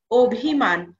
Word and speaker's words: অভিমান: হবে অধ্বনির মত যেমন অভিমান এইখানে আমরা বানানটা কি দেখছি অ ভয়রস্ ম আকার দন্তন্য কিন্তু আমরা যখন উচ্চারণ করব এর উচ্চারণটা হবে ও ভয়রস্ ম আকার অর্থাৎ অভিমান এই যে অ এর